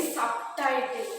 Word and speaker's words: subtitle: MAA very good now I will tell you subtitle subtitle is a compound word do you know about the compound word two different words the two different words H we write together then it makes a new word so here sub and title makes what subtitle so when we